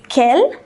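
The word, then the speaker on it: quelles: this interrogative adjective it kell kell kell and kell they're all pronounced the same they all have the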